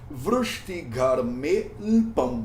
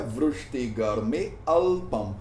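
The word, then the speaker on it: vṛṣṭigarme'lpam: Então a pronúncia disso aqui é Vrishtigarmelpam, Vrishtigarmelpam. Não é Vrishtigarmealpam. Se eu pronunciasse Vrishtigarmealpam, eu ia quebrar a rima dele dentro desse sloka, não ia ficar bonito, não ia ficar sonoro e não ia ficar de acordo com as regras gramaticais.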